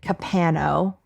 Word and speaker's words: Capano: so Thomas capano and I'm gonna have to remember to pronounce it capano okay Thomas capano was